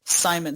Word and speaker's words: Psymon: out, it was like Simon Stark. And by the way, his name is not spelled Simon. His name is spelled Psymon.